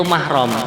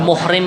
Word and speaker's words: mahram: Yang benar itu pengucapannya itu mahram. Kalau muhrim itu orang yang ihram.